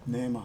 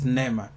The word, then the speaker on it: Neema: Because I keep saying Neema. Is it Neema? No, Neema. Neema. So I'm right. Yeah. It's Neema.